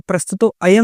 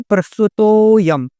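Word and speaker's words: प्रस्तुतोऽयम्: प्रस्तुतो अयम बोलते हैं। तो प्रस्तुतो अयम नहीं बोलेंगे, क्या बोलेंगे? प्रस्तुतोयम।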